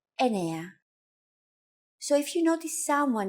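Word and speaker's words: εννιά: Sometimes, though, especially in casual conversation, Greeks also use efta instead of epta, ochto instead of okto, and ennia instead of enea.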